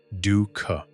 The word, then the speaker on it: dukkha: One Buddhist word often used here is dukkha, pronounced dukkha.